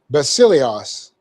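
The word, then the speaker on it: βασίλειος: go bust Elias you I want to put the accent on the on the e I but it's not that it's Basilio's by Celia's da si le I OS okay and it means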